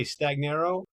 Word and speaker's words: Stagnaro: Victor, how do you say Stagnaro Stagnaro, yeah, you nailed it.